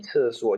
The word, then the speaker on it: 厕所: Ini bacanya cesuo.